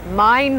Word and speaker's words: Main: One of the main arteries of tourism and commerce alike is the beautiful Mine River here in Frankfurt. Mine is spelled, by the way, like Main Street, USA.